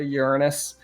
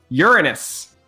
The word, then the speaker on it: Uranus: Uranus. It is the general pronunciation of the planet. Some people say Uranus, but Uranus is the technical correct pronunciation.